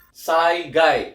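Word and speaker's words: 災害: Cara bacanya adalah saigai ya.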